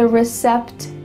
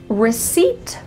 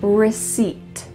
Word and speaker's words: receipt: Did you hear receipt or recept? You heard number two, but that's not correct. Instead, the P is silent. So, you're going to say receipt.